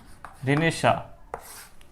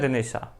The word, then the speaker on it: Renaissance: इसका प्रोनाउंसिएशन अलग अलग है, अलग अलग लैंग्वेज में अलग अलग है। फ्रेंच प्रोनाउंसिएशन बोलते हैं रिनेशा, कुछ रिनेसेंस भी बोलते हैं, अमेरिकन इंग्लिश में कुछ अलग, ब्रिटिश इंग्लिश में कुछ अलग।